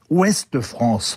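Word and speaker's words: Ouest-France: paru dans ouest france qui se prononce en réalité ouest france avec un e à la fin d' ouest parce que l'âpreté des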